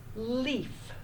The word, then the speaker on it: leaf: and says its name so put a straight line over that e we're gonna have long e a is silent Shh we don't hear it as a Shh okay we're ready